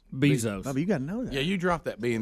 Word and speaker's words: Bezos: Bubba Rick and Bubba Jeff Bose or something something like that how do you say at him I think it's Bezos Bezos yeah you dropped that